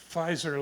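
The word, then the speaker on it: Pfizer: story about that took place in the uh fizer labs and you can look it up online you have to spell it fizer with a p the pee is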